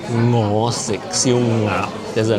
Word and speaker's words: 我: Seeing it in print in the comments that they spell it NGO, ngo, and ngap, ngap. It took me seeing it written in English to realize that that was the correct way of saying it.